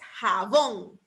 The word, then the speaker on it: jabón: La siguiente que tengo es jabón. Jabón. Lleva el acento en la última sílaba, en bon, ¿verdad?